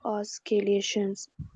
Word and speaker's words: oscillations: So oscillations. कहा Since नहीं बोला ऑसिलेशन. सी साइलेंट है, oscillations.